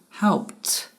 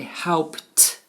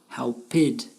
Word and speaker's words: helped: So help becomes helped. It is important to know that we do not add an extra syllable. With the word help, we say helped, which is one syllable, and not helped, two syllables.